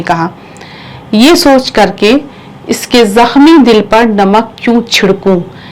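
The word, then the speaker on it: زخمی: हैं जखम मशिका इसका क्या उच्चारण है जखम ख की आवाज फिर उसके बाद जखमी आशुतोष जखमी जखमी खा नहीं है ये देखिए ये ऐसे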